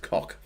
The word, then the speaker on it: Koch: So the Koch brothers are pronounced cock.